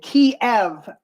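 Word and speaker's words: Kyiv: ammo to Ukraine in Kev which was called Kev forever but now somebody is calling uh ke or whatever ke because that's the way we want to pronounce it now um where they have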